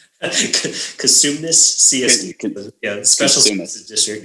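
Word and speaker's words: Cosumnes: Now, how do you pronounce that name? Is it Katsume? Kasumnes CSD.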